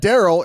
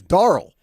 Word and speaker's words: Darrell: It's not Darrell, it's Darrell. Like Carl with a D.